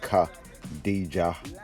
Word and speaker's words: Kadeja: of angled in there so that you can actually pronounce that name right ka dija and we got a makeup palette